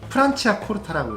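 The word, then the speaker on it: Franciacorta: 프로세코가 아니고 프란치아 코르타라고 읽어요.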